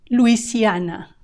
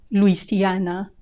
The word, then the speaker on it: Louisiana: matches their Spanish pronunciation Louisiana Louisiana here make sure you say the vowels right u e a u e a Louisiana Louisiana Michigan Michigan